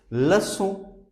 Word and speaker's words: leçon: This is C with cedilla, and its pronunciation is S. Like if you write the word, this is pronounced like garçon. Garçon means boy. If you write this word, leçon, this is lesson.